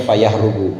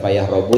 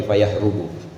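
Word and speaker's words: فيهرب: Bidir maksudnya bacanya fayahrubu bukan fayahrobu tapi fayahrubu.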